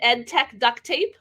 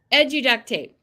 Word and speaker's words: Edu Duct Tape: Is it EdTech Duct Tape? Did I get that right? Or did I say it wrong? Yeah, it's Edu Duct Tape.